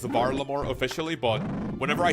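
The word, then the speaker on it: Varlamore: That's whenever I say Valore. I know it's pronounced Varammore officially, but whenever I say Valore on my videos, there's people like coping um actually it's not pronounced Valore, it's Var Lamore.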